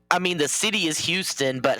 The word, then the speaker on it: Houston: Well, I mean the city is Houston, but H would be the pronunciation. Yeah, in New York City, Hston Street.